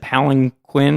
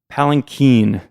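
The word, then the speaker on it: palanquin: palen before I think last time I said palen Quinn or palankin or something I looked it up this time so I knew how to pronounce it palen Keen is apparently the correct pronunciation okay but it's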